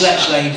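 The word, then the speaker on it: Lechlade: That's Letchlade for people that don't do your best, try and keep up.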